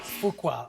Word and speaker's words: Fuqua: Fuqua. I have to pronounce that correctly.